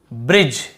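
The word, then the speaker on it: bridge: तो देखिए बाइक type name shine change ब्रिज। यहां पर भी देखिए डी भी साइलेंट है और ई भी साइलेंट है।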